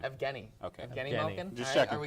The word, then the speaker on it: Evgeny: Evgeny.